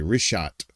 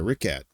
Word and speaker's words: Richat: You'd want to say rishot or richhat, but it's a ricket uh structure.